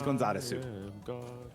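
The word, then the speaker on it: ゴンザレス: weird but then it's it's Gonzalez but the way you pronounce it with Japanese is gonzaresu it's like Alice being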